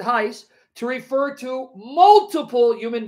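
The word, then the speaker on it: εἷς: all for you one ace esti in christo yeesu here paul uses ace masculine singular you can pronounce it heist to refer to multiple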